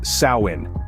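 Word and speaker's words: Samhain: to the ancient Celtic Festival of Sam Hae pronounced as sawin this Festival was celebrated on November 1st marking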